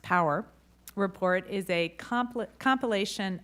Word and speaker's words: PWR: priorities for weather research or pwr pronounced power report is a complex